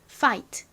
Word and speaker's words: fight: 여기까지 보면 파이가 됐어요 자 그리고 또 ght가 나왔네요 gh는 t 앞에 왔으니까 소리가 나지 않고이 tut 소리만 남습니다 그래서이 단어는 파이트가 됩니다 자 따라해 보세요 fight F 발음 신경 쓰시면서